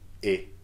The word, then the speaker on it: es: For tu, il, elle, and on, the pronunciation of the verb is the same. It may be written differently, but it's pronounced the same. Like, et, simply, et. Tu es.